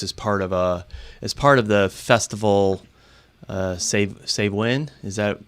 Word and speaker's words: Samhain: Save Win, is that how you say it?